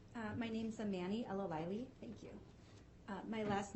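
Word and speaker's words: El-Alayli: your last sure uh my name's a Manny Ella Wiley thank you uh my last name is spelled e-l hyphen a l a y l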